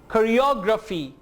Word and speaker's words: choreography: Choreography जैसे आप कहते हैं ना photography, photography, इसी तरह कहेंगे choreography.